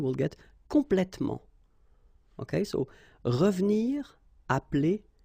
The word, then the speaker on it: revenir: So you've got re and then ve and nir, but then clearly you don't pronounce it, so you get revenir, revenir. Okay, same thing here, appeler,